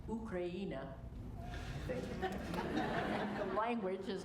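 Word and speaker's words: Україна: In the Ukrainian language, the country name Ukraine is pronounced Ukraina.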